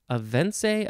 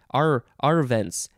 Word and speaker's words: arvense: Avense? Avense? Arvense. A-R-V-E-N-S-E. Not sure exactly how to pronounce that.